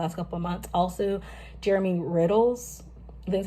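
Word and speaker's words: Jeremy Riddle: Also, Jermy Riddle's, that's how you say his name, amazing, been a rotation.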